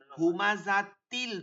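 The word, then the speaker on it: هُمَزَةٍ: হুমাজা কুল্লি হুমাজাতিল লুমাজা দেখেন হুমাজাতিল তখন কিন্তু তিল পড়ছি তা পড়ছি কিন্তু লুমাজা এখানে এসে কিন্তু হা পড়ছি কারণ কি এটা তো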